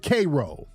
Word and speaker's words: Cairo: we stood 10 toes down shout out to Kroy Illinois Kroy Illinois man they were kro Illinois and it's it's spelled Cairo but they pronounce it Koo dude somebody said palmdell was a son downtown